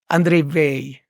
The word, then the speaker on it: Weil: So it's pronounced in a distinctly French way without pronouncing the last letter, the last consonant. You say Weil, André Weil.